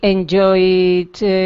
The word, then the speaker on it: enjoyed: D, sound D. Yep. Sounds the D sound, middle column. And, okay, in a sentence. Well, I enjoyed myself when I was studying English.